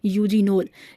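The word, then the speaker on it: eugenol: है वह होता है यूजीनो इसमें ई साइलेंट होता है यू से हम इसको प्रोनाउंस करते हैं केमिकल का नाम है यूजीनो इसके अलावा जो दूसरा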